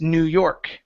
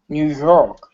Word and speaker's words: New York: the word New York the stress is on the end instead of New York it's New York New York y okay very good